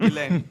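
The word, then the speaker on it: Ghislaine: But it's actually Gain. Gain. I watch your documentary. You're right. Yeah. He just said Jiz just fits.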